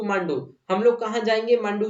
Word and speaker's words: मांडू: we shall go टू मांडू यहां पर मांडू की स्पेलिंग ऐसी लिखी है एम ए डी यू इसको मंडू मत पढ़ना ये मांडू है ठीक है ना एक